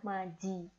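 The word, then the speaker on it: 맞이: Jadi cara bacanya adalah maji kayak gitu ya.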